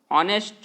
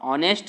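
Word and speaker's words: honest: नहीं, तो नाउन से पहले कौन सा वर्ड है, ऑनेस्ट, और ऑनेस्ट का प्रोनाउंसिएशन मेरे प्यारे विद्यार्थियों क्या आता है, ओ।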